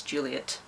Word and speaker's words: Juliet: And yeah, that is one way that you pronounce that name, especially because it doesn't have an extra TE at the end to make it et. It's Juliet. But like any name, when